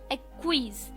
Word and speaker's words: acquiesce: आप क्या करते हैं, एक्विज, ACQUIESCE, एक्विज। इसकी प्रोनाउंसिएशन डिफर कर सकती है, पर एक्विज इसे हम कहते हैं, ACQUIESCE, एक्विज।